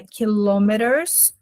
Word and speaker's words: kilometers: A pronúncia de quilômetros é kilometers.